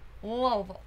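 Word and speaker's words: Louisville: Charlotte I have not been to church lville lville that's how you say it lville Kentucky I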